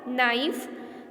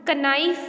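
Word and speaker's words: knife: नाइफ, नाइव्स, नाइव्स. कनाइफ नहीं, नाइव्स.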